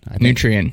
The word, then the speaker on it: Nutrien: Nutrient, yeah.